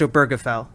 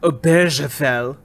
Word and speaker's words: Obergefell: of course if america stands for anything it's pronounced obergefell not obergefell it is for the proposition that all forms